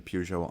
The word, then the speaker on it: Porsche: the pujo on last I'll say it perso as well just right now for anybody who's bothered by my choice of pronunciation um perso perso PUO PUO p PUO perso um there's enough of either to use them as you will D looking old chap